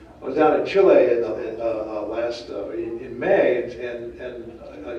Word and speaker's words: Chile: in chile soy crown it's hard to pronounce that i always want to say chili but that's not right i was out in chile last may and and